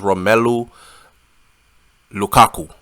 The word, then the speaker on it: Romelu Lukaku: me say his name right his name is romelu Lukaku romelo Lukaku he was holding her hand they